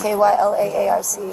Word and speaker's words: Kyla Arce: Spell it for me. K-Y-L-A-A-R-C-E.